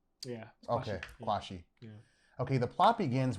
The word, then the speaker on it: Quarshie: Well, the only Ghanaian is Hugh Kwashi, but the rest of them are Nigerians. Kwashi. Don't pronounce the R. Yeah. Okay, Kwashi.